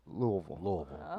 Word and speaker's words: Louisville: Louisville. I was taught Louisville. 3 syllables.